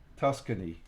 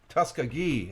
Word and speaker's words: Tuskegee: Tuscany. You heard it. I can't pronounce it worth crap. As far as Tuskegee. Tuskegee. Okay, gee. I'm missing the gee at the end.